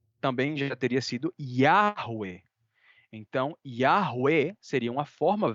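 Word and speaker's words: Yahweh: semíticas da mesma família então por isso que yahwe é de fato uma pronúncia eh aceita eh com um um consenso bastante grande entre os acadêmicos né É E eu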